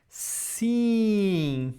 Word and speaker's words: sim: So always you see this E-I-M or E-I-N, we are going to pronounce as the same idea as sim. So, for example, the examples. Sim, sim, sim, fim, fim, sim, fim.